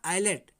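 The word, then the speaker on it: islet: जैसे ISLAT, तो ये क्या, आइलेट।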